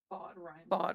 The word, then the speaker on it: FOD: Bod rhymes with God.